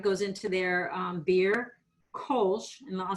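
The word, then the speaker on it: Kölsch: lot of pride goes into their um beer kosh and i'll spell that for you kolsch is the local beer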